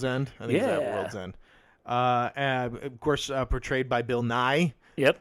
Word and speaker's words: Bill Nye: of the other places, I looked it up. He pronounces it Bill Nye. I watched him do it.